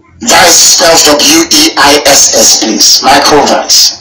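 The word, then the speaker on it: Weiss: Michael Vance. That's how you pronounce it, because in Germanic language, W is pronounced as V, like Volkswagen.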